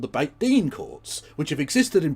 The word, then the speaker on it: Beit Din: It's spelt Beth Den, but it's pronounced Beit Din, apparently.